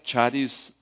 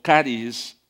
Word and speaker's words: charis: Y la palabra charis significa gracia, significa don, pero charis o caris específicamente se está refiriendo a lo que existe en Dios.